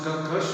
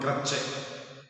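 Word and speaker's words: crèche: It is not called Anganwadis, it is not a crush. It's a French word, crush, we call it crush.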